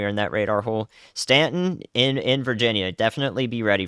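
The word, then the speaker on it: Staunton: Stanton, thank you. The U is silent, but the thunder is not.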